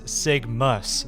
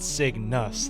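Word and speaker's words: Signus: I thought it was sigmus, not sig nus this entire time and I just now realized that's how you spell it.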